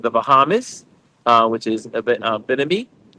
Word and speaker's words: Bimini: Um the excursions I did two excursions, one in uh um in behind the Bahamas, uh which is Bimini.